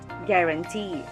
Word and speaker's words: guarantee: the second syllable astringent third word guarantee first syllable is ga second gram and third is t the word has its stress on the third and last syllable guarantee under four syllabic words